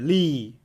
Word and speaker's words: لي: Rhymes with be. لي. لي. The lam loses its haraka. Whatever word it was loses its haraka when the ya comes over. Okay. So it just becomes a letter. Li.